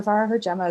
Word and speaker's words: Farragher-Gemma: do sure so uh my name is far JMA as you did excellent pronunciation of that thank you so much I